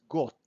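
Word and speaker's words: год: god god means year so we pronounce it like we say t at the end got but when you write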